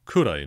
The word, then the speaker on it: くらい: If you notice, she actually pronounced it くらい, not ぐらい. 朝8時くらいか。 Because apparently, for no rhyme or reason that I can discern, sometimes this word is pronounced kurai, sometimes gurai.